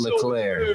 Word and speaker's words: Leclerc: Charles Leclerc is how they say it.